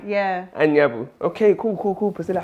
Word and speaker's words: Anyabu: Because I used to say N. Oh no. But it's An. Yeah. ANYABU.